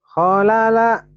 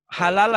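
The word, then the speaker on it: حلل: Kholala. Kholala. Halala. Halala Pak. Halala bukan holala ya.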